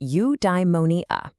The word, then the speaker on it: eudaimonia: Okay, I've got a new word for you, eudaimonia. It's pronounced you-die-mo-nee-a.